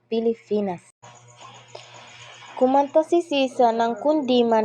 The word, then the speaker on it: Pilipinas: mali ng asawa sapagkat ang tamang bigkas ay Pilipinas.